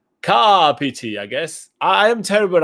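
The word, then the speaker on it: Kāpiti: our terror and call kapiti can you please note that the stress accent from pronunciation is on the first syllable syllable but not on the second one car pity i guess i am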